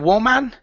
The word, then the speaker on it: woman: so instead of saying woman okay this word is pronounced w woman woman like so woman okay and women okay with an e n is pronounced we women like so so singular woman plural